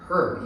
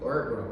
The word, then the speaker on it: herb: 우리가 허브라고 부르는 그 herb, 얘는 이제 앞에가 묵음이죠. herb라고 합니다.